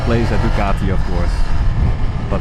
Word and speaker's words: Ducati: last week I said Dugatti Dugatti like a Bugatti the car. Uh this is not a Bugatti, it's not a Dugatti, it's a Ducatti. So the C is a C.